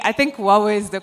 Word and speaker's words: Huawei: over now to our next stand which is Huawei or Huawei I think Huawei is the correct way to pronounce it but I don't want to preempt